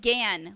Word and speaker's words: Gann: The first one comes from Brian Gann, which rhymes with and, because he finally corrected us.